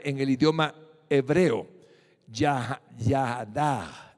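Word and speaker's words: יָדַע: en su bifoliar en el idioma hebreo ya ya da ya da así se pronuncia significa conocer descubrir tener respeto reconocer la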